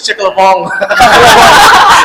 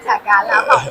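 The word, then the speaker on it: Chả cá Lã Vọng: You make it sound like French. Chick-a-la-bong. Oh, wow. Is that French? How would you Oh my God. the authentic pronunciation? Chả cá lá bỏng.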